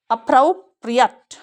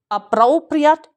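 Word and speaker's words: appropriate: तो इसको 4 तरह से उच्चारित करते हैं. अप्रोप्रिएट. फ्राउ पे स्ट्रेस है. या और कैसे बोलते हैं? अमेरिकन्स कैसे बोलते हैं? अप्रोप्रिएट. औ आपको पता है ब्रिटिशर्स बोलते हैं और औ अमेरिकन्स बोलते हैं. अप्रोप्रिएट. और कैसे बोल सकते हैं इसको? जो ब्रिटिशर्स बोलते हैं अप्रोप्रिएट. अब आठ नहीं बोलेंगे, इसमें अंतर इतना ही है.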